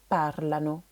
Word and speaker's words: parlano: L'accent va être décalé sur la première syllabe parlano.